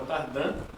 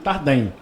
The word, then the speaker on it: Tardin: A pronúncia original é Tardan. Por favor, no microfone. Desculpa, ao vivo. A pronúncia original é Tardan, só que no Brasil Tardem.